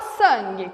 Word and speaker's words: sangue: Nós temos o som do S. Esse A e esse N, na verdade, tem o som de um A nasalizado.